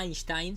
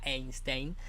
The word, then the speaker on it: Einstein: que pronuncie esto porque yo aprendí que albert einstein se decía einstein yo decía einstein y es einstein que significa piedra una